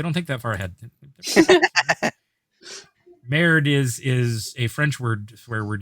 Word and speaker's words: Merde: Merde is a French swear word you can use if you don't know that. Merde. Merde. Yes. Merde. Nice. No, you actually do pronounce the D in that one.